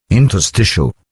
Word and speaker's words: interstitial: Interstitial.